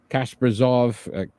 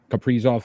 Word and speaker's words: Kaprizov: Obviously, we know about some of their, top players here and what they've done in Kasperzov, Kaprizov. I always say his name wrong.